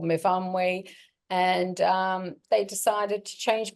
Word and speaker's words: Myfan: I've been called Myfan, Nathan, so many names, but anyway, my name's Myfan. So that's a silent A and a Y pronounced as an I.